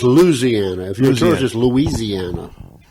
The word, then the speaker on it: Louisiana: Louisiana. Louisiana. If you live out there, Yeah. it's Louisiana.